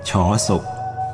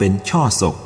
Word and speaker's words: ฉศก: จุลศักราช เป็น เลข 6 สมเด็จ พระ พุทธจาร์โต ออก เสียง ฉศก ไม่ ได้ ออก เสียง เป็น ช่อ ศพ ส่วน พระ ธรรมกถึก อื่น